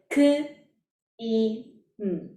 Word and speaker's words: Kim: We can pronounce RM's name by spelling out the consonant and vowels. It begins with k, i, m.